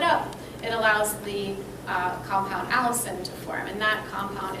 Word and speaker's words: allicin: sit and that allows a compound called allicin to form not the girl's name that's spelled a-l-l-i-c-i-n because there's a compound on